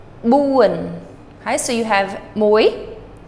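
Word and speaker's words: បួន: Now, this is uan. It ends with an N. But buan. That's your accented syllable. Buan.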